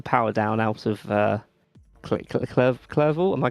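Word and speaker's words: Clervaux: to put the power down out of uh clevo. Am I pronouncing that correctly? Probably clevo.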